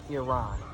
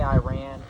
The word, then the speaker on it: Iran: right next one is Iran some people say I ran Iran my pronunciation can be